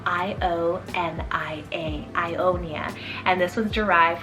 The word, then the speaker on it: Ionia: of as well it's the name ionia spell i-o-n-i-a ionia and this was derived from the ionian